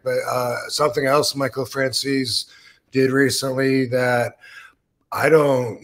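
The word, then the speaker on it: Francesa: yeah mik FR he the way he pronounces it is Frances a lot of other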